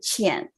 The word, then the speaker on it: Qian: So this Q actually makes it sound like CH. I know it's very difficult to pronounce it, my name. So it's like CH and Qian.